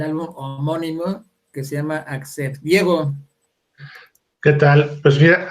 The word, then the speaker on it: Accept: lo castellanizan y dicen Accept. Bueno, para todos, si quieren decirlo bien, en inglés, que significa aceptar, o en alemán se pronuncia accept. Punto. Accept.